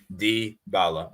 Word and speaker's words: Dybala: So how should I pronounce? Dybala. Dybala.